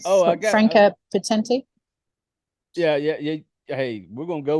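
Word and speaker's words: Franka Potente: Franca Potente. I think plays her. I can't pronounce her name. Oh, Franca Potenti.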